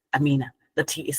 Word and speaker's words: Aminat: States um Amina oh by the way it's Amina Amina the te is silent always um okay so one the first